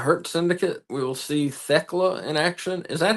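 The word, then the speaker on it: Thekla: We will see Theckla in action. Is that how you say her name? Yeah, Theckla.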